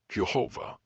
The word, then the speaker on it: Yehovah: Israelite identity and worship though the views of this channel lean towards the pronunciation yehovah it's important to understand